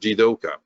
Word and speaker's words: jidoka: moves by itself and it's pronounced jidoka if you attach the radical for human to the kanji for move you get the kanji for work and it's pronounced the same so the toyota world